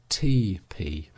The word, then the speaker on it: tepee: is the Indian lodge or tepee pronounced TP and even it is